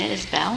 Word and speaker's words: Isbell: Introduce yourself.] [ARCHIVE CLIP, Gina Isbell: My name is Gina Isbell.] [ARCHIVE CLIP, Sheri Fink: Isbell. Okay.] [ARCHIVE CLIP, Gina Isbell: Just like it's spelled.] ROBERT: Gina was a